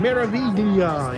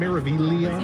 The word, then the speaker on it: Meraviglia: Meraviglia in Port Canaveral. You don't really pronounce the G that hard, right? It's just You Meraviglia.